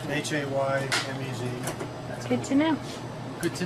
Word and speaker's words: Jemez: Welcome to the Jemez Mountains of New Mexico. Thank you. That's how you say it, Amos. Jemez, like an H.